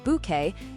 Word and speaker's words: Bucket: Routoutlage was best known for playing Hyasin Bucket pronounced Bouquet in Keeping Up Appearances.